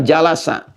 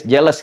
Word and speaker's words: jalasa: Majelis ini asalnya dari kata jalasa. Jalasa. Jalasa. Bacanya pakai bahasa Arab ya, jangan pakai bahasa Inggris. Jelas gitu. Jalasa ya.